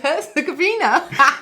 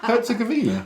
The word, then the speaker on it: Herzegovina: Herzegovina. Herzegovina?